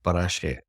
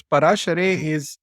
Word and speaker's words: Parashare: That's interesting and a very cool play of words there because Parashare is the way you would pronounce it as a surname in India.